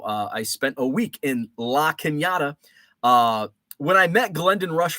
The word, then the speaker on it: La Cañada: And the reason I can pronounce La Cañada and I don't say La Canada is because that's where